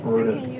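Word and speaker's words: Bryde's: Which I think is bright, but it's pronounced Brutus.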